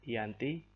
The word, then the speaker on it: Giyanti: Dalam pelafalan Belanda, Yanti, dan secara tertulis ia terbaca sebagai Giyanti.